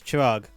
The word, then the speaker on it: Chirag: where I would say my name was Chirag, but no one knew what that was like. So I said, oh, it's like Chirac, the French president.